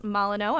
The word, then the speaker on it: Molyneux: Coffee break turned cocktail and food break because we have executive chef Molyneux.